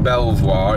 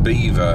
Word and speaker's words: Belvoir: That's not pronounced Belvoir. It's pronounced Beaver. That's one thing to know. It's Beaver Castle.